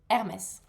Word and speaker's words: Hermès: The first word that we need to pronounce is of course Hermes.